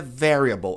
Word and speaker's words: variable: Então, a pronúncia correta é variable. A tônica tá na primeira sílaba.